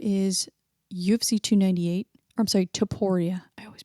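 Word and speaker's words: Topuria: versus pyer very excited about that volkanovski versus Topia that is UFC 298 I'm sorry Toria I always pronounce it wrong Moreno versus albazi that is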